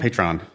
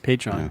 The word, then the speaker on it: Patreon: Patron. Oh, did I say it right? Yeah, she misspelled it. She didn't put Patron. Oh, anyway. oh yeah. Patreon is the name of the platform. Yeah. Okay, Patreon.